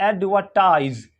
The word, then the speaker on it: advertise: जेड यानी जी एडवर्टाइज तो इसको क्या पढ़ेंगे एडवर्टाइज एडवर्टाइज क्या पढ़ेंगे एडवर्टाइज क्या पढ़ेंगे एडवर्टाइज और